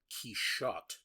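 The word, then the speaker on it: Quichotte: Because dear Christ, why the one I started was called Kishot, which um he has to go into great depth to explain that that's the French pronunciation of Don Kiote's last name.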